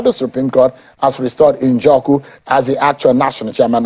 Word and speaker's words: Njoku: I hope I pronounce it Njoku. You pronounce it too well.